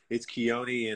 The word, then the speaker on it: Keone: So it's Keone, and I got an accent over the E because it's supposed to be spelled with the I, but my mom put an E at the end of my name with an accent on it.